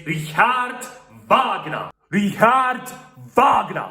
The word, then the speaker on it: Wagner: It's not Richard Wagner, it's Richard Wagner. Richard Wagner. Because this guy came from Germany, and his name is pronounced as Richard Wagner.